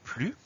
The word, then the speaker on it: plus: alors le mot plus il s'écrie exactement comme et se prononce dans certaines phrases dans certains contextes on le lira simplement plus comme je n'ai plus faim mais c'est le même mot est donc parfois le son est-ce disparaît à la fin du